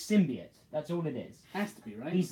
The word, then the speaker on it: symbiote: also I noticed that hank azaria as Eddie Brock pronouncing it pronounces it's tim by art instead of symbian what just like the new film yeah well they say symbiote no one can get it right it's sim be it that's all it is